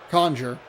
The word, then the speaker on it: Conger: And now Hank Conger. Conjure. I wasn't anticipating it to be quite so syllable.